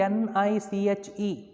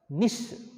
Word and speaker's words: niche: term see there nish surprise spelling is the n-i-c-h-e it is pronounced as nish okay you can pronounce it as niche whatever